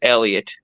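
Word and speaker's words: Heliot: that actually Elliot Elliot yeah with an H so it's just Elliot you you don't pronounce this is Elliot um uh is the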